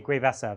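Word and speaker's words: Gue'vesa: I don't know how to pronounce the name. The Guevesa? Guevesa, right?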